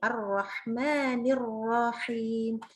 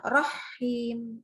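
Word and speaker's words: الرَّحِيم: sini jadi ar-rahmannirohim nah kalau kita bacanya sama seperti itu berarti h-nya bertasydid padahal tidak jadi itu yang harus hati-hati sekali ar-rahmannirrohim bukan Rohim ya ini ini surahnya Insya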